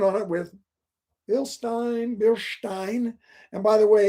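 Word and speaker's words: Bilstein: it with bill stein bill stein and by the way it's e.i is perhaps like an eye in german and ie is pronounced like an e i also called it bill steen for many years it's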